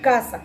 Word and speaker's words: casa: Casa, a pesar de que no lleva un tilde gráfico marcado, lleva un impulso de voz o una sílaba tónica más fuerte en la sílaba K, ¿sí? Entonces decimos casa, casa, según la acentuación, que también